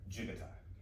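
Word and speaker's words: 自護体: Spelled hontai, H-O-N-T-A-I, but that's J-I-G-O, and everybody, it's pronounced like jigatai, okay? It's spelled like jigo hontai, but jigatai, okay?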